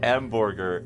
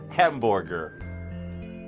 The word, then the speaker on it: Hamburger: you want but uh since it's a German thing you pronounce it wrong and it's hamburger h e m b o r g e r hamburger what is this hamburger